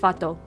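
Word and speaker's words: fată: It looks like fata, but it's pronounced fato.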